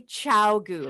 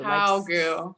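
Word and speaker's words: ChiaoGoo: It's actually Chiaogu. Chiaogu. And someone in the comments said it too, and she said, remember it like Chow, like C-I-A-O, Chiaogu.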